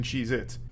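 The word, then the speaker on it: Cheez-It: Cheeits, and I'm still saying it wrong. Cheeits never existed. They have always been Cheeit, not plural.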